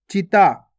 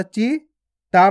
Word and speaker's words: चिता: चा में छोटी ई की मात्रा ची, ता में आ की मात्रा ता को खींचेंगे ता तो मिलके बन जाएगा चिता। आपको चीता नहीं पढ़ना, अगर चीता पढ़ोगे तो बड़ी ई की मात्रा लग जाएगी।